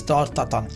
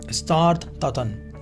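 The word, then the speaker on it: tarte Tatin: The pronunciation in the French, this is, I know it sounds a little funny, but it's tart tatin. Tart tatin, right?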